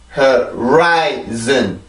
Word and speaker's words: horizon: 자, 앞에부터 차근차근 발음합니다. right, right, right, zen, zen, zen, horizon, horizon, horizon, horizon, horizon.